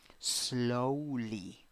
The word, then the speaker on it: slowly: Next, 6 letters, 5 sounds, 2 syllables. The first syllable is the stressed syllable, and you have O wearing a hat. That is O, O. In the second syllable, you have E wearing a hat. That's E. Pronunciation, slowly, slowly, slowly.